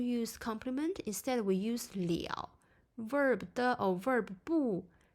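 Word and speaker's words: 了: complement instead we use Liao verb de or verb pay attention to the pronunciation here is Leo so this indicates whether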